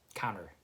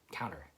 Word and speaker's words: counter: Then you don't really pronounce the T, right? Same with counter. You'd say counter, right?